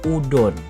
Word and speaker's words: udon: Nama konton pun berubah pelafalannya menjadi Undon. Awalnya tuh Undon, cuy. Nah, akhirnya resmi kita kenal sekarang yaitu Udon yang tadinya konton undon dan sekarang menjadi udon.